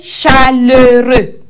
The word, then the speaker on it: chaleureux: J'ai reçu un accueil chaleureux. J'ai reçu un accueil chaleureux. À la fin de chaleureux ici, nous avons notre consonne muette qui est X. Mais on ne prononce pas.